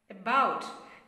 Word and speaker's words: about: That stress give to B. A, B, O, U, T. That's the spelling for about. Okay, about. You see, b as comes as a first stressed syllable. This a has unstressed sound. Okay, a is an unstressed syllable. About. Again, again. In the phonetic symbol, you would see that first letter as a phonetic symbol as a e, upside down e. That's a schwa sound.